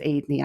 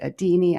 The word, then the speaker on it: Adeney: My last name is Adeney, and spelled Adeney. I never get it's pronounced as Adeney. I get Adini, I get Adney.